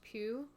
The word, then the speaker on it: Pugh: list we have is Florence Pugh you call pug her last name is